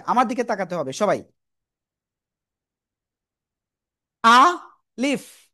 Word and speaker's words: আলিফ: এই আলিফ অক্ষরটা আসলে কোন জায়গা থেকে উচ্চারিত হবে? আমার দিকে তাকাতে হবে সবাই। আ লিফ। আ লিফ। তো প্রথমে আ তারপরে লিফ।